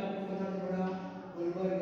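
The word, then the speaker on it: Guldberg: Okay, तो ये जो साइंटिस्ट है वो मैं आपको बता दूंगा, गुलबर्ग है, डी साइलेंट है मतलब गुलबर्ग, और दूसरा है वागे, ऐसा नेम है उसका, गुलबर्ग एंड वागे, ऐसा कुछ नेम मेंशन किया हुआ है।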